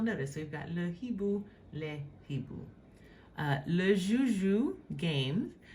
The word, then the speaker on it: hibou: In their pronunciation, like the little phonetic, representation of the pronunciation, it just has like the I, like ibu, but it tells you in parentheses that it says le H est aspiré. It is an aspirated H.